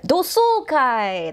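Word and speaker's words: 同窓会: And then kai-gi with a question mark in the, yeah, dosoukai. That's how you pronounce it.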